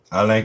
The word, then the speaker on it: Alain: There's Alain Cote there, and then you guys know this guy. So. We And it pronounce looks it like it's a Alain, not Alan.